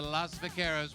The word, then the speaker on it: Las Vaqueras: I said Las, not Los.